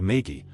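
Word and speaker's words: maegi: The locals call her Maggy the Frog, though that's probably a mispronunciation of Maggy, which is what they call blood magic practitioners from Essos.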